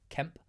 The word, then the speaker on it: Kemp: the goals scored by a hard k and a silent k Kemp and nibs no way I thought